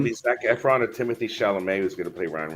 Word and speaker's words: Chalamet: Timothy Oh, Chalamet. you have to say it like that.